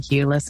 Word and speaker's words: Eula: And yes, Eula does rhyme with doula.